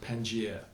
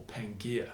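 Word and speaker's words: Pangaea: a super continent called Pang or Pangia depends how you want to pronounce that so Alfred be had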